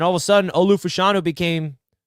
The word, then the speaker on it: Fashanu: some buzz and all of a sudden Olu fashanu became f I got to remember how to say his name fashino Olu fashino was a guy that not a